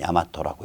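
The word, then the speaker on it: 大和: 한자로 큰 대자, 평화스러울 화자 써서 대화라고 쓰고 읽기는 야마토라고 읽습니다.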